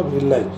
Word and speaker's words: villi: Intestine call बिलाई, VILLI, तो इस प्रोनाउंसिएशन इसका होगा बिलाई, बिलाई का सिंगुलर में भैलास होता है।